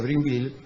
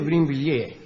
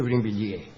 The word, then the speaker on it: Brinvilliers: María Magdalena d'Auvray, más tarde marquesa de Brinville, nació, es de Brinvilliers. ¿Por qué dice acá Brinvilliers? No, es de Brinvilliers.